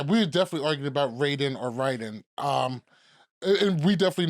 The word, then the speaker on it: Raiden: I was very happy when I saw Raiden. Okay. Raiden. Wait, hold on. Wait. No. Raiden is Metal Gear. Raiden is Mortal Kombat. It's both. It's pronounced both. Raiden and Raiden.